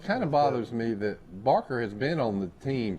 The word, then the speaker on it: Barker: And then a kid named Braxton Baker, 6'2", 202. Barker. Oh, I'm sorry. That's right. Look here, they say it's spelled wrong.